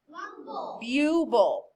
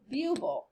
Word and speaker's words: bubble: on vle so the word would be what bubble isn't that weird not b buble okay we're going to